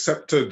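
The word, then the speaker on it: Scepter'd Isle: It's sceptered, so the D is pronounced there. So sceptered Isle. So the D is presumably it's because of course it's a Shakespearean word that's referring to England, well, UK, British Isles, and so it's scepter. The apostrophe D is abbreviation of de as in French.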